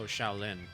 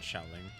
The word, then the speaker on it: Xiaoling: Oh, Shaolin, not Xiaoling.